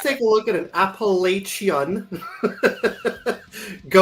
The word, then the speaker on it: Appalachia: was like Appalachian, but I've heard that they actually people from that region pronounce it Appalachia or Oh, okay. It's not It's not the the sh sound. It's more of a ch.